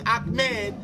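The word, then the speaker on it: Ahmad: m e d or I can spell it a h m a d those are only representations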